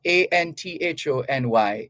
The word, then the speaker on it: Anthony: his middle name and pronounced as such Anthony it's spelled a-n-t-h-o-n-y but Mr cough pronounces his name Anthony which is fine people can choose how they want their name to be pronounced uh other than that a-n-t-h-o-n-y is Anthony just thought we'd get that one